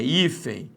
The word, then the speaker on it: hífen: A mesma coisa vai ser hífen ou hífen? É hífen. Nós temos aqui uma paroxítona.